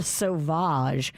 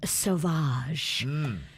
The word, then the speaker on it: Sauvage: it sound sexy savage what spelled s-a-v-a-g-e no it's s-a-u-v-a-g-e it's savage but with a little oh with a so yeah all he'll have